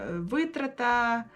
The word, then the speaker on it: витрата: і рима до нього наприклад витрата висить витрата ну чи щось таке взагалі